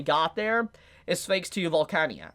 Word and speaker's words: Volcanica: Which, speaking of which, the reason Subaru probably got there is thanks to Volcania, or Volcanica, that's how you say it, Volcanica.